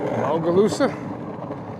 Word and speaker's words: Bogalusa: Yeah, so essentially, if all goes well, we hit 70 miles, we'll be in Bogalusa. That's how you say it.